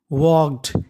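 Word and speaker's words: walked: भी बहुत महत्त्वपूर्ण है डब्लू ए एल के ई डी वॉग इसमें एल हमारा साइलेंट होता है वकडू होता है टहलना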